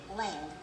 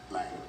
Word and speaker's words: Lang: For the last 2.5 years, I'm calling him David Land. Lang.